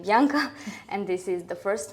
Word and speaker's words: Bianca: I was rarely called Blanca, but I'm then getting back to my name Bianca, and this is the first one.